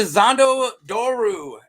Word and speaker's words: Xhondo Dhoru: move man let's get into zondo doru and yeah that's how you say it that's how I'm gonna say it so yeah zandu doru um is a mate